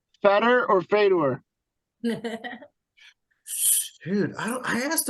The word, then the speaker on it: Fedor: And I go, it's Feder. It rhymes with better and cheddar.